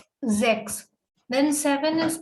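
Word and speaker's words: sechs: we say sex okay ch combination has various sound here the ch combination is giving car sound ka so it is zx then seven is called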